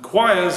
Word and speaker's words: quires: the letter q and q is of course choirs and places where they sing and choirs is spelt q-u-i-r-e-s and we'll have a